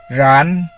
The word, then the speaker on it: ren: REN is pronounced as ran.